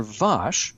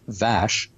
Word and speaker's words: Vash: Uh, the character Vash um actually would have been pronounced differently. Uh, we have Patrick Stewart's accent to thank for that. Um, calling Vash Vash.